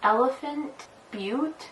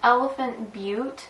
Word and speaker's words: Elephant Butte: called Elephant Butte, and I'm assuming it's pronounced Elephant Butte, B-U-T-T-E. I don't think that they would name a town Elephant Butt, but you never know what people are going to do these days. So I'm assuming that it's Butte, and I'm going to pronounce it like Butte, but I'm not 100% sure.